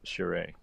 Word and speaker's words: Charest: If It's funny for how I never pronounced his name like that, but that's Charest, fine.